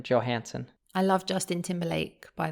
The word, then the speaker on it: Johansson: So it would be like Johansson, but we pronounce the J, like an American Johansson.